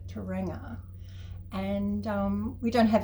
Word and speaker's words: Tauranga: Tauranga, that's how you pronounce it.